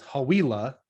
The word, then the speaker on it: Hawila: or just um my last name is is hawila and it's like I try to the way I let people remember that is it rhymes with tequila oh okay so oh